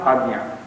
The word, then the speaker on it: Qadian: It happened this way, that the true pronunciation of Qaziyan was Qadian, has never been Qadian. So it was not a distortion of pronunciation, but a distortion of scripture, script, method of writing, nothing more.